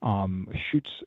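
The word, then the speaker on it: Schütz: They're a container manufacturing company, Schutz container with an umlaut. My German wife would want to make sure that I pronounce that correctly.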